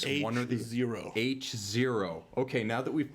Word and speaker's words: H0: Okay, so from our friends at HYT comes the HYT-HO or H0. That is how it's pronounced, folks. H0.